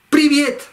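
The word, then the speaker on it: привет: ¡Priviet! ¡Priviet! Ya está. ¡Priviet! ¡Priviet!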